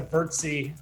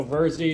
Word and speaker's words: Virzi: how it got to bertsy yeah it right it rhymes with jersey so versey jersey not curtsy yeah yeah messed up